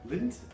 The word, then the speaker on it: Lindt: the how do you say that lindt sure lint the lint and this is uh dark chocolate